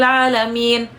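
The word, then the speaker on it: العالمين: Ain bukan pakai A. Bukan pakai A. Bacanya pakai ain. Tuhan sekalian alam. Allah punya langit, Allah punya bumi. Begitu teman-teman baca alhamdulillahi rabbil alamin.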